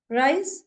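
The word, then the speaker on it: Reis: Rice is rice, though the spelling is different, but the pronunciation will be rice only.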